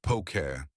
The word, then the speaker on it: poke: Pronounced pokeet, poke is a bowl typically filled with diced ai tuna or salmon, avocado, seaweed, sesame seeds, and served over rice.